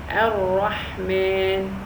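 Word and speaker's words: الرحمن: There are so many rules of the heavy and soft Ra, but now we are going to study the heavy Ra that has a fatha on top.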